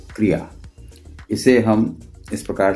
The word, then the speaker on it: क्रिया: The pronunciation of this word is क्रिया।